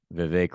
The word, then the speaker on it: Vivek: here so um you guys wanted your founder Vivek ramashwamy I pronounced his name correctly is that right I always have a hard time with his last name but bake like cake Vivek ramaswamy so he is now running for president